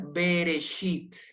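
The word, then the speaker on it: בראשית: con un lleva entonces acá lo vamos a pronunciar bereshit bereshit bereshit acá no hay vocal acá no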